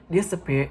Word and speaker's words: disappear: As you can see on the screen, disappear is a 3-syllable word and its primary stress is peer.